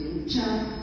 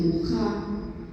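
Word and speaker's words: Mucha: Bueno, esta es ya una imagen más sensual de Muchá, se escribe Muchá, en checo dice Mujá, como ven, rodeada de flores, muy exótica.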